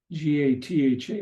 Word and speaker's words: gatha: So sutras, mantras, dharani, and gatha, G-A-T-H-A, but it's pronounced gatha.